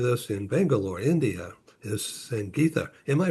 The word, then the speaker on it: Sangitha: I'm uh in San Diego and with us in Bangalore, India is Sang Gita. Am I pronouncing that correctly?